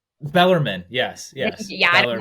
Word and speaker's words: Bellarmine: I So think it's Bellarmine. Bellarmine, yes, yes, Yeah, I don't know how to Bellarmine, yep, pronounce it.